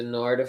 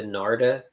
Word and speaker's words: Narda: very top but so we talked about the Narda 5A nardia I found out from that Asian